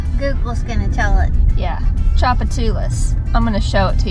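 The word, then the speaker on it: Tchoupitoulas: And there's a street called Chapatulas. But it's called Tujitu. But the T is silent. Google's gonna tell it. Yeah, Chapatulas.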